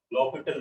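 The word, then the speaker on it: L'Hôpital: लॉपिटल rule, L फिर है हॉस्पिटल rule, ठीक है। एप्लीकेशन में पढ़ते हैं लॉपिटल रूल, एच और एच साइलेंट होता है, या फिर इसी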